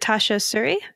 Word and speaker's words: Tasha Suri: actually just to make sure that I am pronouncing your name correctly because that is important is it Tasha Suri am I saying that right yes that's perfectly